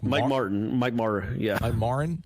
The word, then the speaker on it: Martin: apparently somebody said that I wasn't pronouncing the T and Martin I guess under say Mike Morin like Mike Martin Mike Marra yeah I'm aren like Martin yeah Mike Martin Mike Mike Martin jr.